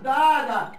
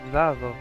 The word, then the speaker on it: dado: Hey, susto me has dada. You gave me a scare. Nice try, Templars. I think that was said wrongly in Spanish. Que susto me has dado. Dada is not how it's said.